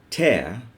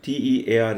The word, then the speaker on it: tear: Pear, bear, snare, tear, hair. Here, T-E-A-R is tear, which is the fluid that comes from your eye. And this is tear, the act of tearing something.